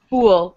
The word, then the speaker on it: fool: And you have to make sure you're pronouncing them differently. So it's this full pull look versus fool pool Luke bull pool pull pool. You hear the difference?